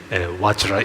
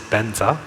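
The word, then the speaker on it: vajra: pronunciation correctly that definitely watcher is watcher watcher should not be pronounced as Benza but keeping this other aspect in mind then I think it is okay to also pronounce it as Benza you know there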